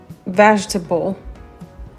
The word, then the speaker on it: vegetable: Pareil pour vegetable. Vegetable. D'accord, qui veut dire les légumes. L'accent primaire tombe ici sur la première syllabe.